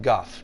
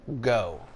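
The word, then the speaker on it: Gough: Dark Souls there is a character named Guff g u g that I've heard many many many people call go instead of Guff but he says his name in the game there's a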